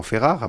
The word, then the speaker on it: Ferrara: Si les gens veulent le prononcer correctement, c'est sûrement Ferrare, mais puisqu'avec l'intonation... c'est un nom d'origine napolitaine, hein, donc... Il y a un seuil de tolérance, on dira. Voilà, et puis Ferrara, mais tout me convient.